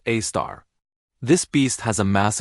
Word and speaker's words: Sagittarius A*: It's called Sagittarius A*, pronounced A star.